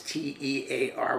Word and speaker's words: tear: very easily remember heteronym remember the sound we're looking for in this family is ear so this t e a r will be pronounced tear let's put that in